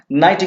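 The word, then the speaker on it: knee: Night means होता है योद्धा, शूरवीर जिसे कहते हैं। नेक्स्ट है आपका नी। के को छोड़ दीजिए तो क्या बचा? नी।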